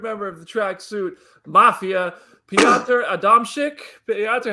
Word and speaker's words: Piotr Adamczyk: Piotr Adamczyk. Yes, very good. Okay. Next time. Piotr Adamczyk, hello.